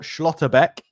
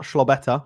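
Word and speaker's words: Schlotterbeck: I mean, it's it's Nikico Schlottbeck. Close. Not Schlaweta, which sounds like a like an Italian bread, however you spell it.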